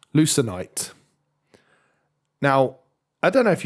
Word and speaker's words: Lucenite: of get letters muddled up and then just pronounce it that way for the rest of time. So I've been calling Lucenite Lucient for like a week, and then I've listened